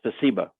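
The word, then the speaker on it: спасибо: Ooh, do you know how to pronounce that? That's spasiba.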